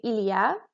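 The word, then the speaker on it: il y a: how to pronounce it say ilia doesn't look like it but it sounds like on the other side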